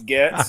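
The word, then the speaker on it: Gaetz: Okay, Matt Gates or Getz. Getz. Yeah. Sure. Getz.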